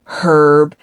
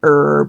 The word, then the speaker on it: herb: it because you know how the Brits say herb and Americans say herb?" Like we don't pronounce the h.